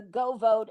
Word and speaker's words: GeauxVote: Now, I would strongly suggest to all of your viewers that they download the Go Vote app on your phone or your Mm-hmm. computer. It's spelled GEAUXVOTE.